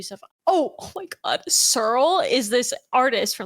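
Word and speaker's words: S3RL: Surl is this artist from like 2010. It's spelled S3 RL.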